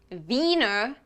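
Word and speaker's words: Wiener: in it it's pronounced Vienna you know like it's from Vienna the Austrian capital Austria's capital is weiner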